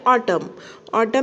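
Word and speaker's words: autumn: अब ये ऑटम में N साइलेंट है, लेकिन इसका लिखना ज़रूरी होता है।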